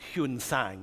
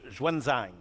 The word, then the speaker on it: Xuanzang: This is this incredible monk called he used to be pronounced Huan-Sang in the old thing, but Xuanzang is how he's pronounced today.